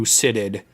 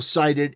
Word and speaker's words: cited: Even entrusting the who you sitted. Not sighted. Oh, sited. Sited. By the way, it's it's still it's still sighted. It's still pronounced sighted, not sitted.